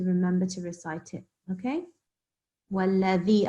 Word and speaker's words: والذي: I think your dhal as well, you were maybe pronouncing them a little bit like za when it should be dhal. Can you put your tongue in between your teeth and say dhal for me? Dal. Yeah, so that's what we're supposed to recite when we see this letter here.